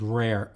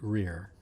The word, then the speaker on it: Rear: I was named after my grandfather, who was Austrian, and I think they probably pronounced it rare, but for some reason my family pronounces it Rear.